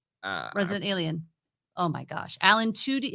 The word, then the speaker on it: Alan Tudyk: Oh my gosh, Alan Tudyk. How do you say his name? Alan Tudyk.